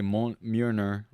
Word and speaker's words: Mjolnir: thor's hammer mjolnir scene that was really good pronunciation i say mon myrna oh yeah all right all right all right